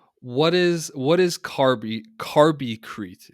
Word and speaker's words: Carbicrete: is what is carby carby crete is that correct pronounced that's correct yeah so it's it's